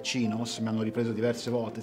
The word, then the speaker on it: chinos: Questi sono classici kinos o chinos o chinos, chiamateli un po', pronunciateli un po' come vi pare. Io credo che la pronuncia corretta sia cinos.